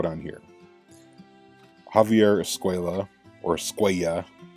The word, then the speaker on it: Escuella: Javier Escuela, or Escuella. That's how they should pronounce it, but they always say Escuela, even though his name has two L's, but anyway.